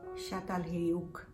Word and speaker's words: Çatalhöyük: in turkey there was another site known as shattal hayouk and that's how it's pronounced uh spelt a little different but pronounced